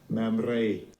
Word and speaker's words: Mamre: Now, I can't roll my R's nearly as well as this guy can, but so you can see how the original Hebrew was supposed to be pronounced, or how it is pronounced as a reference.